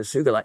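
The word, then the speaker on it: sugilite: found along with the sugalite yeah Kenichi Sugi in 1945 discovered it in Japan it was a hard G it's one the most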